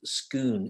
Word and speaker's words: scone: comes with instructions but scone is pronounced scoon in this instance so there you go